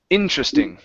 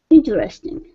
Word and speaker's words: interesting: So instead of interesting, it's interesting. Interesting. Okay, so we're going to skip over this vowel right there.